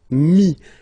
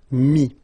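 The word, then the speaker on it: mis: And then mettre, to put, so E-T-T-R-E, will give you this I-S, mi. Same thing here, final S is not pronounced, mi, okay.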